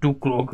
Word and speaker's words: Duklock: Ano, bavíme se o pánu Duklokovi, pozor, vyslovuje se to Duklok, kdo by nevěděl.